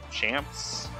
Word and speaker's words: Champs: go on to fight champs champs it's like chance spelled with the m uh he's a bowser